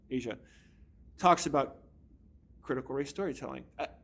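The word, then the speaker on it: Aja: A AJ but I believe her first name is pronounced Asia talks about critical race storytelling.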